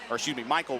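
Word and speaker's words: Mikal: It's Michael Wilson, as it's pronounced, as it's spelled, M-I-K-A-L.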